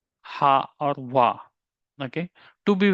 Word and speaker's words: は: So and when to say the most of the students have question like when to pronounce it as a ha or wa.